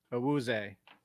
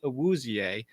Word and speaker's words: Awuzie: And he actually pronounces his last name differently than most people with his last name would. Most people pronounce it Awuzie. He actually says his last name is Awuzie.